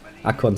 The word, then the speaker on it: Akkon: And I hate the English pronunciation, which is why I'm gonna pronounce it in fucking superior German. True that. Akkon sounds better.